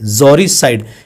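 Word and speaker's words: uxoricide: इसके बाद है killing of once wife, killing of once wife, जोरिसाइड, जोरिसाइड, इसमें यू साइलेंट होने वाला, ठीक है, जोरिसाइड।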